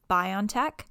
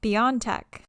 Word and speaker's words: BioNTech: one is the pfizer biontech and the other is the moderna vaccine fun fact about the pfizer biontech you can either pronounce it biontech or beyondtech apparently the ceo says both are acceptable he just wants people